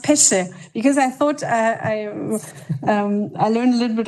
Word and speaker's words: Pesce: The next dialogue will be between Pesce, as I was told by my colleagues here that it's an Italian name, right? So it's pronounced Pesce, because I thought I learned a little bit of Spanish and I thought how to pronounce it.